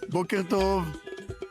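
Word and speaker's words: בוקר טוב: Boker Tov.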